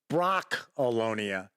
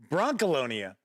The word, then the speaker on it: Brancalonia: look at Bron alonia no it is not Brock alonia it is Bron Colonia the Empire wax back from acaron games that